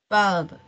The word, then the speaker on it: valve: valve, and tubes. All right, that's good. Mhm. All right, that's the part of sphygmomanometer. But I've heard you mispronounce the word valve. Be careful with your V sound.